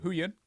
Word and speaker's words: Huyan: jill huyan is and i knew i'd say the name wrong uh you got it right who yin yeah jill huyan is